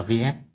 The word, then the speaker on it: Viète: định lý vs vs Đây là tiếng Pháp nha tiếng Pháp cho nên mặc dù dấu là dấu huyền nhưng mà chúng ta vẫn đọc là vs bởi vì dấu này là dấu của tiếng Pháp chứ không phải là dấu của tiếng Việt đúng không Theo định